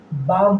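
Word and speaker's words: balm: मरहम होता है लेकिन इस एल का उच्चारण हम नहीं करेंगे बालम नहीं बोलेंगे बाम बोलेंगे बाम मतलब मरहम अब आलमंड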